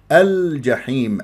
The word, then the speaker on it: الجحيم: الا بضم الشافتين ضم الجحيم اللام قمريه ليش بعد حرف متحرك الجيم مفتوحه ابغي حجك وخف عقيمه هذه الحروف القمريه لما تكون اللام قمريه يجب ان يجري فيها صوت وفتره زمنيه بسيطه لانها من احرف التوسط لين عمر الجحيم الجحيم